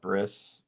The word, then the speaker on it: bris: Brit Milah, it's also called, a lot of American Jews call it bris, which is another way of pronouncing it, is the ceremony where the foreskin is removed.